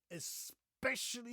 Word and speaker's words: especially: I made this segment especially for you. Especially, again, do you see an X anywhere in this word? No, there's no X. It's not especially. It's especially especially, people.